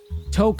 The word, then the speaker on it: toque: Toque is the Arabic word for the hat. Think poke or joke, only with a T to pronounce it correctly.